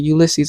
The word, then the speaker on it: Ulysses: And Ulysses, that's how you say it, Ulysses.